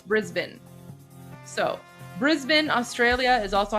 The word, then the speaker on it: Brisbane: Tommy, it's not Brisbane, it's Brisbane.